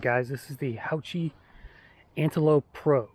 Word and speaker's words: Haoqi: guys this is the houchy Antelope Pro it's an 1899 uh e-bike Fat Tire e-bike 20x4 tires uh that uh Hachi makes here that's how it's pronounced I did ask them